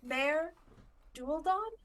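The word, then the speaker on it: Maer Dualdon: Mare Dualdon, one of the three major Merdulden?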